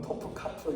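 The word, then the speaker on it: Topkapı: 카 발음이 좀 니다 한국말로 어떤분 토프카프 이렇게 하는데 영어로 읽으면 아 톱 카프라 그럽니다이 왕 왕궁 박물관이 있는데요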